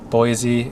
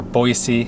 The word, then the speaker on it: Boise: me into the Nampa Boise area or Boise I'm sorry locals say it with an S Z Boise but there's a waterfall